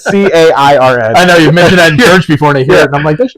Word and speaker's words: Cairn: It's not spelled like the woman's name, Karen. It's Cairn.